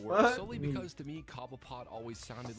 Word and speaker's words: Cobblepot: Even Gotham, of the show kind of changed the history and pronunciation of the name to be Cobbleput.